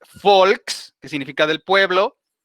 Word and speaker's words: Volk: la parte inferior entonces la uve ellos la pronuncian como si fuera una efe para nosotros por eso es folk que significa del pueblo